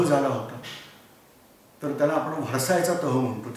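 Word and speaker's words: Versailles: आपण दुसऱ्या पहिल्या महायुद्धाच्या शेवटी जो जर्मनी बरोबर जो तह झाला होता तर त्याला आपण व्हर्सायचा तह म्हणतो. तुम्ही इंग्लिशमध्ये स्पेलिंग बघा, ते व्हर्साईल्स असं काहीतरी लिहितात. बोलताना म्हणायचं व्हर्साय. दुसऱ्या महायुद्धाच्या वेळेला फ्रान्समध्ये पंतप्रधान होता, त्याचं नाव होतं दलादिया.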